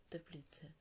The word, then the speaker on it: Тепліце: Розинка подорожував таким містами у Чехії: Прага, Карлові Вари, Ліберець, Кладна, Тепліце. Отже, нам потрібно поставити в них наголос, користуючись довідкою.